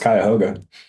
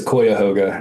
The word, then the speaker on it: Cuyahoga: So I'll say, as someone who lived in Ohio for a couple of years, he mispronounced Cuyahoga. How does he say it? He says Cuyahoga in the song, and I had to stop and go look it up.